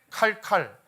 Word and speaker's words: 카르카르: 카르라 하는 지역이 있습니다 카르카르 자 빨리 하면 어떻게 발음하면 돼요 칼칼 실제 칼칼이라고 돼요 칼과 칼이 만나면 전쟁이